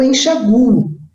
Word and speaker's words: enxaguo: Esse verbo eu posso dizer ou ler como enxago ou enxaguo. Então, se eu pronunciar o A, ele vai, o A tônico, né? A sílaba forte estiver com aquele, onde está o A, onde estiver o A, acento colocado. Agora, se eu pronunciar como forte o U, aí eu não ponho acento algum.